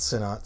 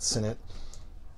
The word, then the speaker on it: Sinnott: Not Sinnott, Sinnott. Some people will correct me if I'm pronouncing it wrong.